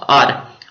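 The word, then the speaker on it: hour: उसके बाद घंटा जो होता है आर, उसको हावर नहीं पढ़ना, आर पढ़ना है, आर।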